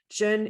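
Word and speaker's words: Zhen: what we're talking about jen is spelt z-h-e-n sorry z-h-e-n for americans and um it is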